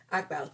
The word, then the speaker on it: Akbal: Let me see how to pronounce it. Pronunciation, Akbal. Oh, I did say it right. Look at me go. Akbal.